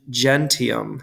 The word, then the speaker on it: gentium: want to put and it's going to be gentium. Or as we call it in ecclesiastical pronunciation, gentium.